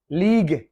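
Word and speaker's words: league: Catalogue, catalogue, you silent है। Catalogue जो book type होता है जिसमें डिस्क्रिप्शन होती है डिफरेंट चीजों की। लीग, लीग जैसे क्रिकेट मैच वगैरह खेलते हैं तो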